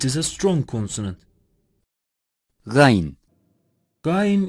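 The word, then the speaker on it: غ: a strong consonant line guyon is articulated from the top of the throat closely interspace of the mouth it is a strong consonant phae-phae is pronounced when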